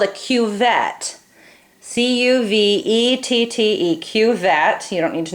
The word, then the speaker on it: cuvette: good view of it this is called a cuvette c-u-v-e-t-t-e-q-vet you don't need to know how to spell that but this is called a cuvette and look on this side the sides are